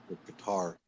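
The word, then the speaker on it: Qatar: honor that's good cutter guitar guitar yeah I say cutter I always it's just it's stuck in my head because that's how we used to pronounce it but maybe they call it guitar now whe there's another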